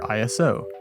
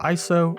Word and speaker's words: ISO: The final step of the exposure process is our ISO, pronounced either ISO or ISO, which is the sensitivity to light of either our camera sensor or the film stock if we're shooting analog.